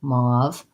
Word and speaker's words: mauve: So mauve has the aw vowel and a V, mauve.